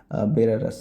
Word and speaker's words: बेलारूस: से, साइबेरियम से टू बेलारस से, ये सॉरी बेलारूस बोलते हैं, बेलारूस।